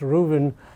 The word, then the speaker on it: Ruthven: article by molly's Rubin it's written Ruthven but it's actually pronounced Rubin in the New York